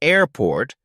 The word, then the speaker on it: airport: the word for example in airport the stress is on air not port in Blackboard the stress is on black not bored practice saying these slowly